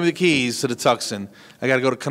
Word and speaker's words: Tucson: You mean Tucson?